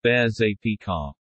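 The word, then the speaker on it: Berger Picard: out as dependable playmates a burger picard is usually pronounced as bears ap car there are approximately 3500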